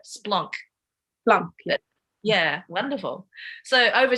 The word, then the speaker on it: Splonk: It's Splunk, but that's an anglicised version of the word. Yeah. So, but that's actually how you say it, Splonk.